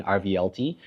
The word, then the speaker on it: RVLT: in Singapore are wine rvlt I think it's like Revolution but it's spelled rvlt iner case um and